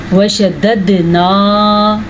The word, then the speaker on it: وشددنا: رکھنا ہے آپ نے۔ وشددنا، پھر سے قلقلہ ہو رہا ہے کیونکہ دال کے اوپر ساکن آ گیا ہے، اور دال کے اوپر جب ساکن آ جائے، جیسے قاف پہ ساکن آئے قلقلہ ہوا ہے، اسی طرح دال پہ ساکن آ جائے تو بھی قلقلہ ہوگا۔ شددنا اسرہم، را کو